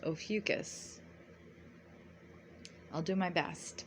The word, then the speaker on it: Ophiuchus: was between November 27th through December 18th now ofus your constellation is situated behind the Sun from